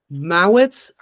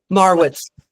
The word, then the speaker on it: Marwitz: special emphasis on Mawitz. You put it in the chat for me. I'm saying it wrong. It's Marwitz. Yep, Got it.